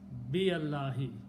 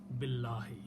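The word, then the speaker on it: بالله: Bi Allahi. He said, I'm not pronouncing this alif here. Billahi. It's easy to pronounce. But again, pronouncing is not wrong.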